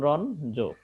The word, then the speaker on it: রঞ্জন: এর কিন্তু উচ্চারণের সময় হবে কি, এটা উচ্চারণের সময় হবে তোমার ন হবে আর জটা থাকবে, অর্থাৎ ইওটা হয়ে যাবে ন, যেমন রন জো, রন জো, অর্থাৎ ইওটা